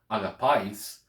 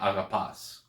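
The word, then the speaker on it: ἀγαπᾷς: So instead of saying in using Erasmus pronunciation, agapais, they would just say agapas, agapas.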